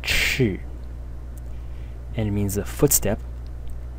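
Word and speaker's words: 彳: This is the left part, and it is pronounced chi, and it means a footstep.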